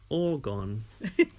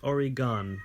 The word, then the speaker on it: Oregon: a country off all right pantic thanks for pronouncing Oregon correctly though people in in the US get it wrong constantly they say oron but it's I bet they say Oran well